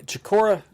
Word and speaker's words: Chicora: Chicora, is that? Am we pronouncing that right?